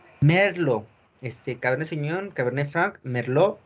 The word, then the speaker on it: Merlot: Merlot. No se pronuncia la T en esta uva. Es Merlot. Merlot.